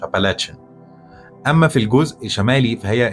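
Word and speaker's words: Appalachian: اما في الجزء الشرقي فهتلاقي جبال الابلاش، مش الابلاش، ابالاتشن.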